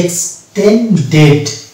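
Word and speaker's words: extended: একে যদি আমি রেগুলার মানে সেকেন্ড ফর্ম করতে যাই তাহলে কিন্তু ইডি লাগাতে হবে, তখন এটার উচ্চারণ হয়ে যাবে এক্সটেন্ডেড।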